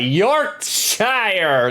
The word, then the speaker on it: Yorkshire: Frederick Dango said Yorkshire. That's correct. Like, we pronounce all of the vowels in Yorkshire.